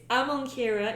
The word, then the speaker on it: Amonkira: It's really because It's you're like a few Shahira, syllables Shahara. away. But it's Amonkira is the god of hunters, and Kalahira is the mistress Oh, of.